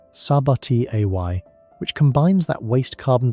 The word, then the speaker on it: Sabatier: A reaction named for the chemist Sabatier, pronounced Sabati Ay, which combines that waste carbon dioxide with the waste hydrogen to regenerate water and produce methane.